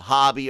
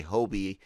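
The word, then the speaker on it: Hobbie: and uh uh uh hobby or hobie however you want to pronounce i hear the guy on the audiobook say hobie i always say bobby it's hot yeah does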